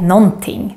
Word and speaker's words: någonting: For example, the word någonting. This is how we write it, but it's very rare to hear this. We normally just say någonting.